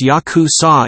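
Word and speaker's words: ヤクザ: the worst hand in the game is 893 pronounced Yakuza in Japanese which equals 20 in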